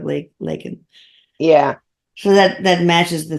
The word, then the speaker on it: Laken: He said Lincoln instead of LAKEN.